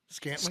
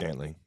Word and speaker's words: Scantling: Scantling. Scantling.